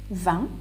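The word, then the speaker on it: vingt: that will help you now van t is at la t which is at last is silent you just say repeat now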